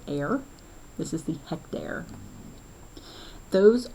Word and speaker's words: are: looks like it's the word r but it's pronounced air this is the hectare those are again units